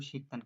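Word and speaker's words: 식단: তো এখানে দেখেন একটা জিনিস, আরেকটা জিনিস লক্ষ্য করবেন, আমি 4 নম্বরে বলেছি শিকদান, আপনারা এটা করেছেন শিকদান, আসলে এর উচ্চারণ হবে শিকদান।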